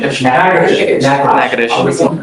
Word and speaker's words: Natchitoches: I butchered the pronunciation, but Natchitoches. Yes, What is it? Natchitoches.